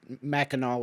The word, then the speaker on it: Mackinac: Otherwise, she wouldn't have known Mackinac was the correct pronunciation, right?